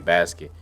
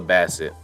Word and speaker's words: Bassett: Like, as much as I love Angela Bassett, I'm saying her name wrong. I'm saying Basket. It's Angela Bassett.